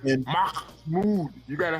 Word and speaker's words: Mahmoud: Mahmoud. He was a Let me green teach you card how to say holder. it. You gotta say it like And Mahmoud.